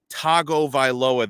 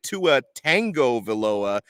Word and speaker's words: Tagovailoa: and continuously mispronounce it when you say to a tango veloa there's no tango in his name the man writes and